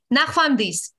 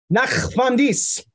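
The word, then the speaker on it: ნახვამდის: Nachvamdis. Nachvamdis.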